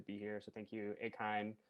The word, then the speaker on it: AKINE: here so thank you a kind or some people have said akine i kind of like that pronunciation a lot too um yeah i i've